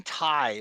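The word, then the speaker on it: Tighe: Kevin Thai, right? That's how you say it.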